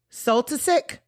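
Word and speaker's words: Soltysik: And then he went to live with another SLA founder, Pat Oh, Patricia Sultic. Yes, that's how you say it.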